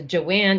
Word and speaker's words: Joanne: sometimes that you know my my name is joanne but my family in brooklyn it's it's got a long a it's a joanne you know but where